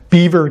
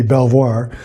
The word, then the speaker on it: Belvoir: So I've got about 4 weeks until the Land Rover show at Belvoir Castle, apparently the Brits pronounce it, even though it should be Belvoir, the Land Rover Owners Show.